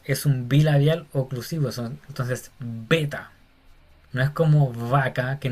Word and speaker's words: beta: Hasta ahí vamos igual a nuestro idioma, pero esta se llama beta. Beta. Y tiene que ser pronunciada con B, así como una B fuerte como de boca, beta.